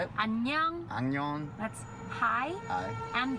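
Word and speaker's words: 안녕: Annyeong.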